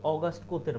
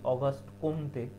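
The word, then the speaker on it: Auguste Comte: অগাস্ট কোতের মাধ্যমে। অগাস্ট কোত। এটা তোমরা অনেকেই হলো ভুল করে বলো যে অগাস্ট কোমতে, যেহেতু COMT, কিন্তু আসলে উচ্চারণটা কি বা প্রোনাউন্সিয়েশনটা কি? সঠিক প্রোনাউন্সিয়েশন অগাস্ট কোত।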